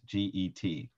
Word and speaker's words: get: that's called a get g-e-t which is a little confusing but the hebrew word is gimel tet and um it it's pronounced get in english sounds like an english word but it's not so a get is a